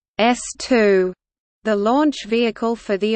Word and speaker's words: S-II: second stage of the Saturn V, the S2, pronounced S2, the launch vehicle for the Apollo program.